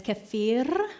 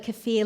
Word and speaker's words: kefir: It's technically supposed to be pronounced as kefir with like the rolling. But even if you call it kefir like the lime, those bumpy little limes, that's fine.